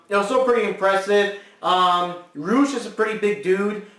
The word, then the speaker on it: Rush: And we had here the team of Jeff Cobb, Rush, or Roosh, they pronounce it Roosh, and Jay Lethal, of